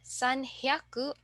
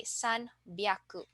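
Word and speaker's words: 三百: take note of so for 300 instead of saying Sun hyaku we will say s byaku and then for 600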